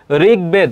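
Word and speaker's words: ঋগ্বেদ: ঋগবেদ। উচ্চারণটা কি হবে? ঋগ। ঋ থাকলে সেখানে রয় রশ্ি হবে। তাহলে এখানে কি হবে? ঋগবেদ।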